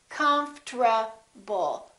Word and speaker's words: comfortable: that happens, and that's the RT becomes a TR. They change positions. Listen. Comfortable. Comfortable. Comfortable. I'm very comfortable. Most Americans pronounce it like that.